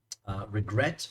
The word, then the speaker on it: regret: So, and then here we have the word regret. We double the T because the last sound is stressed.